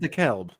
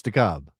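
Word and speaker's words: DeKalb: With decal. Well, I think it is Dalb, but it's spelled the Cabb. It's spelled Decal, but it's Dabb, right?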